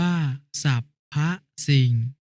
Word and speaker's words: สรรพสิ่ง: อ่าน ว่า พรรค พวก คำ ว่า สรรพสิ่ง อ่าน ว่า ศัพท์ พระ สิ่ง คำ ว่า เว้น วรรค